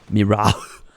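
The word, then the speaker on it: Mirrah: Mira I've decided that I'm actually going to pronounce the h Mira just make it sound like I've got a some sort of obstruction in my Throne that I'm trying to cough out how is it that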